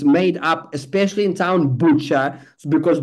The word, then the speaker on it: Bucha: And even in Bucha, the whole thing was made up, especially in town Bucha, because the Bucha word sounds like butcher.